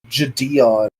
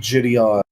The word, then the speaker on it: Gideon: well as the guy whose name apparently is pronounced Gideon Yeah. and not Gideon, as everyone thinks it is.